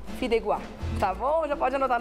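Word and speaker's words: fideuà: Deixa eu falar a pronúncia correta, como é que é? Fideuá. Fideuá.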